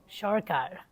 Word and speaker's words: Sircar: And Sircar is like, it's spelled Sircar, but it's pronounced Sharkar.